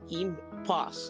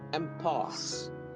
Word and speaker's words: impasse: இம்பாஸ் அப்படின்னு அதை படிக்க தோணும், ஆனால் எம்பாஸ் என்று அதனை உச்சரிக்க வேண்டும். அதாவது அந்த ஐயை எடுத்துட்டு ஈ போட்டா எப்படி உச்சரிப்பீங்களோ அப்படி உச்சரிக்க வேண்டும்.